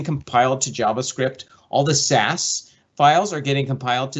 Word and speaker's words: SCSS: of the theme dot theme dot sas scss pronounced sas and in here you'll see all of the